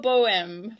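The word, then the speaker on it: Bourgeois Bohème: my pleasure did I say that name right close it enough bour Bo it it is a bit of a mouthful for most people bour bem very very good it sounds good when you say it properly that's right and it's about 9:00 a.m.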